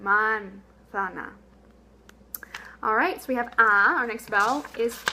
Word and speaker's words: manzana: So, a good way to contrast and really emphasize your correct Spanish pronunciation is try to do a really bad East Texas pronunciation of this word. You know, manzana or something, and then really emphasize the correct pronunciation, manzana.